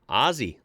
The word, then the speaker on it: Aussie: It has, and always will be pronounced Aussie, like Ozzy Osbourne, exactly like that.